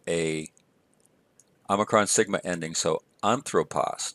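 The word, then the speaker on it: ἄνθρωπος: Omicron Sigma ending so on throw pause notice in this case the accent is on the first syllable so we have on throw pause the ending is Omicron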